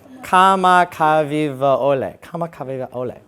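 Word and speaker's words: Kamakawiwoʻole: this this performer now I got to say his name right because he's Hawaiian Israel kamakawi Kole kamaka Ole right everyone just calls him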